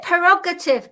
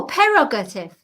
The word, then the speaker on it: prerogative: is correct it's correct is it perogative p e r o g a t i voga no prerogative prerogative It's my prerogative prerogative